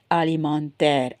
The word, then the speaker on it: alimentaire: Okay, so food allergy, allergie alimentaire, alimentaire.